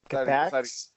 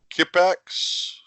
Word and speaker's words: Kippax: Kipax. Say it again, Phil. Kipax. I think we'll give that. I think it's Kipax.